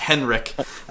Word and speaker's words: Henrich: And just so you know, it's spelled Henrich, but it's pronounced Henrich. So it's spelled with a CH at the end there.